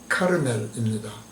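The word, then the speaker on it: הכרמל: 우리말 성경에서 갈멜산은 히브리어 발음으로 하카르멜입니다.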